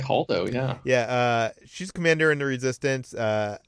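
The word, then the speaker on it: Holdo: How do you pronounce it? Haldo? Haldo? I think Haldo, yeah.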